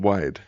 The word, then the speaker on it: WYD: W It's It says WYD, but we pronounce it wide.